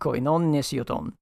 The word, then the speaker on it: Koinon Nesioton: Koinon Nesioton. Yes. The stress is on the last syllable, Koinon Nesioton.